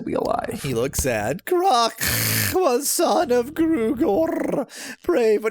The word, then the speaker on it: Kruk: Kruk should have a rolled K, I'm just saying. Well, that's why I was saying Croc. Yeah. How much more can I roll a K than... Doesn't get much more rolled than that.